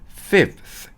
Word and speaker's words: fifth: 5는요, 5가 되려다가 5는 F-I-V이잖아요. 근데 V가 아니라 이게 F가 돼서 fifth 아니고 fifth라고 읽힙니다. 요게 그러니까 조금 어렵겠죠. 네 번째의 fourth 했는데 fifth가 아니고 fifth 이렇게 해야 되니까 이 5가 좀 많이 헷갈리실 거고요.